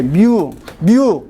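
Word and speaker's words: μ: 이렇게 뮤. 아예 발음해봐.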